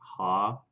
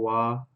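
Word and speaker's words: は: wow I don't know it's ha unless it's supposed to be like the particle waa cuz sometimes Haase pronounced to wow if it's being used as a grammatical protocol none of this is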